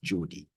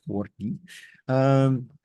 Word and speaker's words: Jordi: Unless there's a bit of Catalan, which there was in this case with Jordi, as opposed to Jordi.